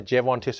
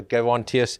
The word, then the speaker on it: Gerontius: It can be pronounced either Gerontius or Gerontius, and the Latinists will argue with you ad nauseum on the topic.